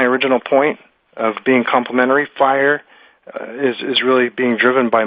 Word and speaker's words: FHIR: But I pronounce it FHIR, as John mentioned earlier.